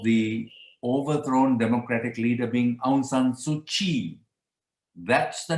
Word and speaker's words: Aung San Suu Kyi: So Aung San Suu Kyi is the pronunciation of that name, although it's written somewhat differently in the English language, but let that be.